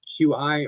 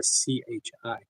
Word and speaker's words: qi: Chi is either pronounced qi or ch hi.